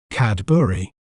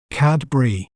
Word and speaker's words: Cadbury: better understand its pronunciation in British accent we may pronounce it as Cadbury Cadbury CAD b r with a little focus on the middle syllable B cadb while in American accent we may pronounce it as CAD Bri cadb CAD Bri CAD Bri you can check out